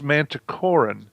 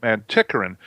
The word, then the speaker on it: Manticoran: Is it's Manticoran. Not Manticoran.